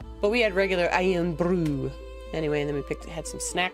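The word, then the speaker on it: Irn-Bru: I am brew. Iron brew. That is how you pronounce it.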